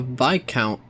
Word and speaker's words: viscount: A viscount is just pronounced weird. It's hard I and S is hard I and the S is silent.